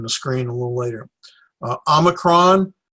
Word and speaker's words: Omicron: screen a little later Omicron this is the short o sound as an off as an omelet the now the boy